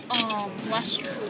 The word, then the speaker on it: Leicester: Lester. Leicester. Okay. I don't know, like, how do you, like spell it, but Yeah. just Lester.